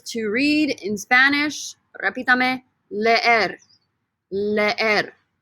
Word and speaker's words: leer: Repítame, leer. Leer. Again, two E's. You pronounce both E's.